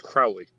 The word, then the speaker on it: Crowley: last name call me crowley if you think me fowley call me crowley if you think you me holy i know it has